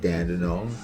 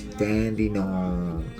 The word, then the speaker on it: Dandenong: any here in melbourne i don't say dandenong it's dandenong okay so all right so